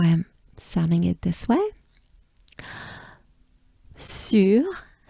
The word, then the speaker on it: sur: All right, sur, we have the infamous funny U sound, right? So U is basically pronounced by making a droopy mouth. Your lips, your mouth, and your jaws drop down. And you close your mouth almost all the way, but not quite.